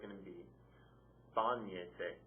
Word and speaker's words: bañese: So it's going to be bañese. Accent mark over that first say. Bañese. Because it's 3 syllables back and the stress is there.